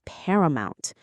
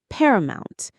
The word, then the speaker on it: paramount: Their well-being is paramount. This is a word that signals ultimate importance. Paramount. Let's say it. Paramount. Paramount. The stress is right at the beginning.